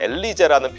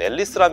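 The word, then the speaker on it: Elise: 다음으로 소개시켜드리고 싶은 차량은 여러분들도 이미 잘 알고 계신 로터스 앨리스라는 차량입니다. 일본에서는 독일식으로 말하면 엘리제라는 표현이 공식 명칭으로 굳어져서 뭐 엘리제라고 불리기도 하는데, 제가 보기엔 앨리스라는 명칭이 원래 발음에 더 가까운 표현이 아닌가 싶습니다. 로터스가 90년대 이제 그 GM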